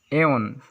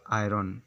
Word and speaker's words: iron: 8 number पर है हम लोग का वर्ड्स। एओन, IRON। अगर हम लोग इसका इंग्लिश में लिखने जाते हैं तो इसको प्रोनाउंस ऐसे किया जाता है AH plus ON, एओन। I have to एओन my cloth, ऐसे बोला जाता है, नॉट आयरन।